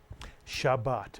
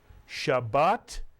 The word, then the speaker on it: Shabbat: this is the word Shabbat Mitsu jaan I'll remind you it has two vowels therefore it has two syllables every Hebrew letter either